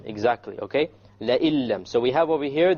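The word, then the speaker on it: لئن لم: And when we have this, then we drop out the noon and we pronounce it with the hamza immediately merges with the lam, and that is why we call it an idgham.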